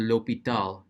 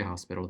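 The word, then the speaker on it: L'Hôpital: speed does rule or if you want to say it properly in French is the l'hopital you can say Hospital though I don't care and then we're told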